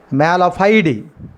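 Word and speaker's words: mala fide: The word is the correct pronunciation malafide.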